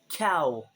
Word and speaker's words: Chaos: Um, they say cow. They don't pronounce the s no matter if it's plural or not, but they say cow, but um, the thing is it's it's also for cows.